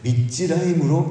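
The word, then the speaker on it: מצרים: 그리고 우리가 읽기에도 비슷한 발음이 있습니다. 나병 환자들은 메조라임입니다. 메조라임. 근데 애굽의 군대는 미즈라임입니다. 메조라임을, 나병의 내병 환자 하찮은 그 메조라임을 미즈라임으로 착각하게 하신 거죠.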